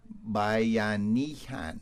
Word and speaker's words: Bayanihan: It is said, and I hope I pronounce it right this time. I got it right off the air. Bayanihan.